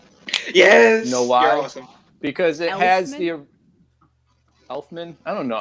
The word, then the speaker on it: Elfman: with i go with danny elfman not effortman elfman health man yeah you did too so i did oh you guys are adding an extra syllable in there oh man two